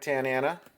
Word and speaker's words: Tanana: Hall of Famer Frank Tanana like his last name it's fun to say rhymes with banana Chris Sabo his obnoxious